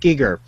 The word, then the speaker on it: Giger: it's a pretty an HR Giger not Geiger it's pronounced Giger uh there's a documentary